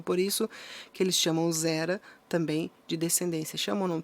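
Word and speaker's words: זרע: criação e no hebraico a palavra se fala zera se pronuncia zera zera semente a palavra semente traduzida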